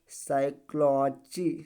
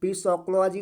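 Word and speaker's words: psychology: देंगे तो क्या बन जाएगा भैया यहां पे साइकोलॉजी साइकोलॉजी ठीक है क्या पढ़ा जाएगा पीस कोलॉजी नहीं पढ़ा जाएगा साइकोलॉजी साइकोलॉजी ठीक है उसके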